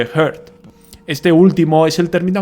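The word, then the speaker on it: Hurd: Aunque yo las españolizo y digo HURT y HIRT, se deberían de pronunciar igual que HERT.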